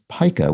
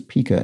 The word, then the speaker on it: pica: have dragon traces explains Pica which I mispronounced as Pica in yesterday's puzzle whether the measure in printing or the eating disorder is pronounced with a long I so pica and um